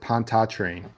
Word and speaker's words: Pontchartrain: In North Louisiana, we pronounce it Pontchartrain. Pontchartrain. That sounds delicious. It does sound delicious. Ooh, No. Give me a plate of that Pontantra.